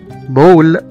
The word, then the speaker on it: ball: مثلا كمان زي كلمة ball، B A L L، كرة، هنا نطقنا حرف الـ A كأنه حرف O، بول.